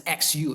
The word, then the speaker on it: Hsu: think it's sh okay Hsu right which is pronounced as XU right in P format so right can you